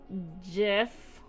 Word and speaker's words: GIF: GIF. Case in point, hard G always.